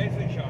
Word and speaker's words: Issachar: Issachar, huh? It's a car. Yeah. We'll get there, brother. Well, the H is silent.